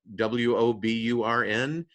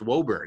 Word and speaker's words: Woburn: had to convince my my uh producer that w-o-b-u-r-n is not pronounced woburn it's pronounced woburn if you're from boston you